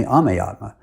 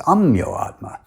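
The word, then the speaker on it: Ameyatma: is spelt a-m-e-y-a-t-m-a and everyone else uses the sanskrit pronunciation and calls me ame atma but shiloh prabhupada has bengali accent and he pronounced it as amyo atma adding an o in the middle during my initiation ceremony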